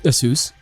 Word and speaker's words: ASUS: ASUS. Yeah, that's the right pronunciation.